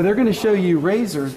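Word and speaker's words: RASSOR: So they're going to show you razors. If you Google razor spelled with two S's in the middle, R-A-S-S-O-R, Google razor NASA, it's been all in the news the last 2 days.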